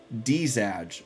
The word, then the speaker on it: DZ@J: Oh, DZ@J says my handle is pronounced Dzaj.